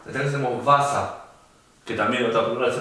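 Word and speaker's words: Wasser: En cambio la W sí se pronuncia como una B corta. Entonces tenemos vasa, que también otra palabra se parece al inglés.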